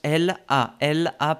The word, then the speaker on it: elle a: Así, si no decimos elle a parlé. No. Pegas la L con la A que sigue. Elle a.